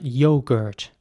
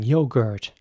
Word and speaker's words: yogurt: sound you're good and in American English it would be more like yogurt so the O is very round once again yogurt yo Gert and yogurt